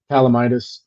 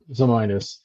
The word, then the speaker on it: Zamitis: and the staff and Calamitis, who's there. Calamitis? I keep saying his name wrong. Yeah. Alan Zamitis? Calamacnitis? Alan Zamitis. Holy crap. Sorry, I butchered that. It's not an easy name to remember. Zamitis.